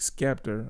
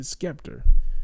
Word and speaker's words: Scepter: Then, in all of this, every single one of the videos, he pronounced the scepter, because it's spelled SCEPTER, scepter, right? But he's pronounced it Skepter.